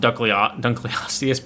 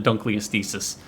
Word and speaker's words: Dunkleosteus: I know it's pronounced Dunkleosteus, but I call it a Dunkleostesis. That's kind of cool that has weight reduction.